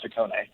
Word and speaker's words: Hakone: it at the beginning because it is actually pronounced takone and the hakone edition is really our homage